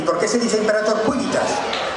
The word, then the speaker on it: civitas: ¿Y por qué se dice imperator cuivitas? Porque en latín no existe V. se pronuncia con u y la c es una k, así es que es